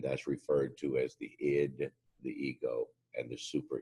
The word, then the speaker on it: id: mind or psyche and the first is pronounced the ID it doesn't stand for anything it's not an acronym or anything it's just the ID the ID is a